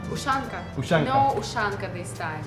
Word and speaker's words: Ushanka: Ushanza? Ushanka.